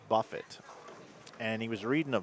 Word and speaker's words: Buffett: and the guy goes it's not Buffet it's Buffett and he was reading